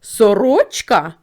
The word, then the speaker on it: сорочка: слово сорочка або перепитаємо сорочка другий склад ми вимовляємо з більшою силою голосу Тому цей склад наголошений